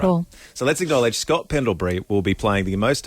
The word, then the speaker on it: Pendlebury: Scott Pendlebury.